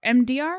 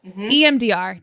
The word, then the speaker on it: EMDR: and she's doing MDR MDR am I saying it right yeah MDR EMDR thank you and um I had